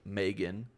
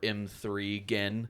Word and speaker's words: M3GAN: gets released in January, called Megan, or M3 Gen. I don't think that's how it's pronounced.